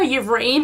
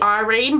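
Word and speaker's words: Yrene: Like I was calling her Irene, but it's actually Irene, but why couldn't you call her Irene? Why does there have to be a Y in her name?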